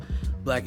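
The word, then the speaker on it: Blaque: black black is spelled b a quu e I am the lead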